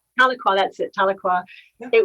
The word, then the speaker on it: Tahlequah: Is that the right pronunciation? Tahlequah? Tahlequah, that's it, Tahlequah.